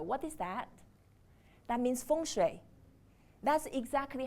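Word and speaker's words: 风水: wind and water what is that that means fun that's exactly how it's pronounced so wind is a combination between okay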